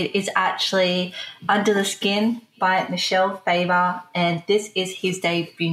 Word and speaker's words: Michel: Now, the reason why we said that is it can be pronounced Michel Faber. And in fact, my middle name is Michael without an A, and I pronounce it Michael.